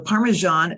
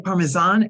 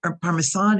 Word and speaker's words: Parmesan: Parmesan cheese now the parmesan the S is pronounced like zh so it doesn't say Parmesan it's Parmesan it's Parmesan cheese the